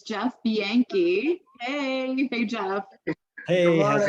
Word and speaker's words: Bianchi: It is not the way it reads, okay? It's Jeff Bianchi.